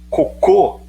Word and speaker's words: cocô: coco e coco coco coco é paroxítona terminada em ó não leva certo cocô é oxítona terminada em ó pela regra das oxítonas e leva acento entendeu